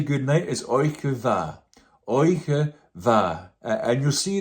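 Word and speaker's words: oidhche mhath: What is a Gaelic word without a D and an H? Just to make it look tidy, to give it a nice shape and a nice form, but it's not pronounced.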